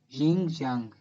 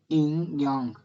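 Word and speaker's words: yin-yang: Ying yang, inyang, la pronunciación correcta, el equilibrio de los opuestos.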